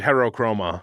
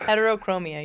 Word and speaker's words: heterochromia: named Heterochroma. This is Bob. But he's got the Bob. two different I know colored Bob. eyes. Heterochromia, you're right. Heterochromia. I mispronounced it.